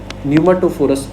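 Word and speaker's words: pneumatophores: याद रखना है, आपकी न्यूमाटोफोरस बोलते हैं उसको। देखो पी साइलेंट है जैसे निमोनिया की तरह, तो न्यूमो लिखो, न्यूमाटोफोरस उसको नाम दिया गया।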